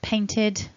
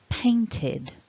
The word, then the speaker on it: painted: but that is realised, that is pronounced as id, because the word ends in that T sound. So it becomes painted, not ed.